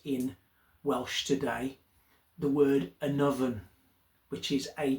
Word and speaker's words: Annwfn: still in use in Welsh today, the word anovven which is a w a n wfn. It's actually spelled um in our modern language today, but it's pronounced an oven.